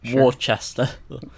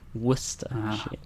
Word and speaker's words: Worcester: and read it and they pronounce a war stir stir Oh Worchester wish to shine yet with this year Worcester and say yeah that is a tricky alright so number